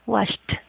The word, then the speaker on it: watched: Entonces, esa ed va a sonar como una T. Vamos a tratar de pronunciar en casa también. Watched, right?